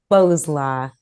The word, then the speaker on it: Bowslaugh: Our Guest Randy Lee boslo I pronounced your last name correctly oh Bose ball Bo's law thank you Randy is